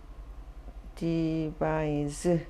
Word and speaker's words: devise: 디바이스 디바이즈 이렇게 발음해요. 즈 발음 나요. 보통 이렇게 비슷한 명사 동사가 짝으로 올 때가 많은데 스로 끝나거나 즈로 끝나거든요. 동사는 즈로 끝나는데 즈로 발음 나고 SE는 C로 끝날 때는 스 발음이 납니다.